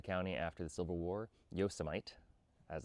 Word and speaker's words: Yosemite: Yosomite, as it's pronounced, became the center of that shift.